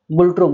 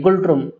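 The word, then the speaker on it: Ngultrum: एन जो है यहाँ पे साइलेंट है, गुल्ट्रुम, ना गुल्ट्रुम नहीं, गुल्ट्रुम।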